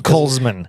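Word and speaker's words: Kollsman: all right so what's it actually called the Cole's man k-o-l-l-s colesman window um so very much like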